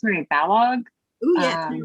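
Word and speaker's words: Balogh: I think it's Mary Balog. Oh yes, Balog.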